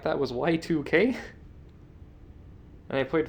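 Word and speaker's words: YIIK: came out last year or the year before called Yik. It's pronounced Y2K, but it's Yik because it's supposed to be the year 2000, like the Y2K bug.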